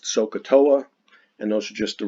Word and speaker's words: SOHCAHTOA: just write it this way and it is pronounced sohcahtoa and those are just the rules for which